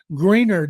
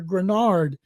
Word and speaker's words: Greenard: Stroud, but other players, Nico Collins, Will Anderson Jr., Derek Stingley Jr., I hope Jonathan Greenard, as I keep hearing him pronounced, people hear Grenard, that he's able to